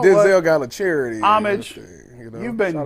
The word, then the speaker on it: Homage: Is that homage? Yeah, it's Homage. Homage. What's with the homage? homage. Yeah, so. I thought it was pronounced different, even though it's spelled like homage, but I guess not. Homage.